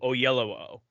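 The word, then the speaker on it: Oyelowo: courtney yeah uh it took me a long time to pronounce that too i i had to listen in an interview oh yellow oh but yeah i mean that's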